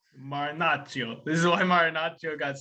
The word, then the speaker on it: Marinaccio: Marinaccio. Marinaccio.